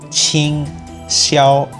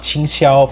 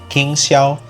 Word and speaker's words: Qing Xiao: It's pretty similar to how you would pronounce ka-ching.